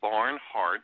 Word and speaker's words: Barnhart: And last name is Barnhart. I'm saying kind of like it sounds. Barn, like, you know, where you put your farm animals, and heart as in H-A-R-T.